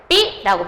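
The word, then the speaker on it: 장맛비: 장마 플러스 비. 발음할 때 어떻게 발음해요? 장마비라고 발음해요.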